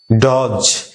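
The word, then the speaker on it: dodge: এটা ডজ, ডিজি থেকে D silent, ডজ। দেখছো ডিজি থেকে ডি সাইলেন্ট হয়ে যায়।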